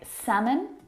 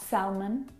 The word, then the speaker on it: salmon: in them words like salmon not Selman ha nut how would talk walk all of these words have a silent L in them which makes them a little bit tricky to pronounce correctly I've got a separate